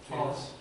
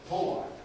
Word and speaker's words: pollicis: The pollicis. That's what you were saying, right? No, so that's condition. Pollicis.